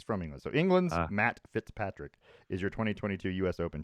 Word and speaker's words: Fitzpatrick: golf because um matt fitzpatrick england's matt fit pet fit pet fit matt fitzpatrick you said it right the first time i know and then